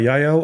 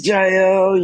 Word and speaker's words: Jael: Do you go by Yael or J? J. Okay. Yeah. I was like, man, I probably mispronounced that.